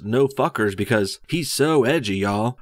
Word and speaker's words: NFKRZ: A couple weeks ago, the channel NFKRZ, pronounced No Fuckers because he's so edgy, y'all.